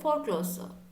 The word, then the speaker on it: foreclosure: permit okay so here one word was the foreclosure so actually it's not for closer the pronunciation is quite difficult so this is the